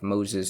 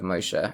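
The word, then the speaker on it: משה: For instance, Abraham instead of Avraham, Isaac instead of Yitzchak, Esau instead of Esav, Moses instead of Moshe, etc.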